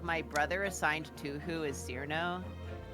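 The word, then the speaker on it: Cirno: I don't exactly particularly know why, but like my brother assigned Tuhu as Cyrno. Cyrno?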